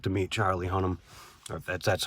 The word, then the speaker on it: Charlie Hunnam: I you know I would like to meet Charlie Hunnam that's that's how you pronounce his name I I grew up around